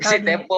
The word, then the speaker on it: Sitepu: Kalau Karo bacanya si Tepu, apa si Tepo, apa tadi coba diulang. Si Tepu. Ah, gitu si Tepu ya.